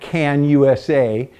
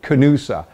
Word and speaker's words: Canosa: that with this canosa i've been calling it can usa they let me know that it's they pronounce it canoosa so canoosa 18 mil